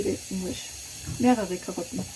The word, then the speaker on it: mehrere: Mehrere Karotten. Mehrere. Re. It's like the R in the back.